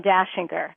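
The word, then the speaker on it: Dachinger: speak to them by the name of Dashinger. So you understand, my name is not spelled like the Christmas song.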